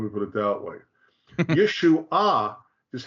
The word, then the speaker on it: Yeshua: the third word there which is Yeshua yeshu ah Accent on the third syllable yep and they'll claim